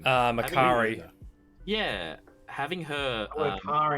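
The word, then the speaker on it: Makkari: Makari. Yeah, having her. A car in it, Jason. Having her be And mute. it rhymes with Ferrari.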